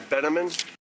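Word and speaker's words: Bieneman: My name is Bill Benaman. Can you spell that please?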